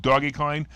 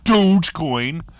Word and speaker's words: Dogecoin: about 35 and dude everybody tells us i'm saying it wrong because i call it doggy kind which is probably what it's supposed to be but since everybody else has a dogecoin it's still around 25